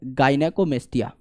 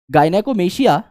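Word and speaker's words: gynecomastia: यहां पर इस कंडीशन को कहा जाता है गायनेकोमेस्टिया। वैसे करेक्ट प्रोनाउंसिएशन है गायनेकोमेशिया, बट आप गायनेकोमस्टिया भी बोल सकते हैं, क्योंकि नंबर यहां प्रोनाउंसिएशन के नहीं है ना।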